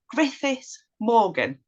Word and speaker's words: Griffith Morgan: sorry if I if I get your your surname wrong Griffith Morgan did I get it you did but if